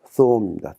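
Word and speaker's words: ثوم: 여기는 th 사운드, 싸 발음입니다. 거기에 우가 붙어 있고 와우가 있기 때문에 우를 길게 읽으라는 표시입니다. 그럼 한번 읽어보면 쏨입니다. 쏨.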